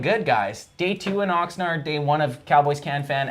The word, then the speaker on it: Oxnard: it in my voice is it Oxnard is it nard or nerd I think it's boots how do you say Oxnard Oxnard oard that's do so we're saying it right yeah it's the yeah